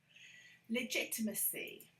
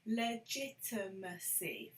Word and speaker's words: legitimacy: little game with yourself legitimacy legitimacy this is so hard for lots of people legitimacy five syllables actually legitimacy legitimacy legitimacy okay well